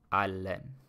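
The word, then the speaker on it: አለን: So remember how for ina it was allen with like sort of the accent on the last n. Here for we have, there's no accent on the N in allen. So it's just pronounced regularly.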